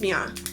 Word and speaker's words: Miana: It's Miana. That's how you pronounce it.